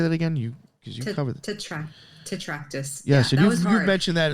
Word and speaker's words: Tetractys: Tetractys.